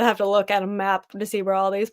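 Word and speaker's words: Mackinac: pronounce that wrong like people call it maak Island but it's ma um I know it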